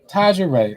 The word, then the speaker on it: Tajari: How's your first name pronounced? Taja Ray.